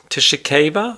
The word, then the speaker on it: Tshikeva: The loss coming to Fabio Wardley against Jamie TKV Tishika I guess is how he pronounces his name but he's commonly referred to as Jamie TKV who has a record of eight wins one loss.